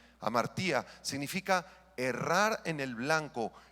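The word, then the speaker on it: ἁμαρτία: La palabra griega para pecado es la palabra amartía, amartía con H al principio y acento en la I. Amartía significa errar en el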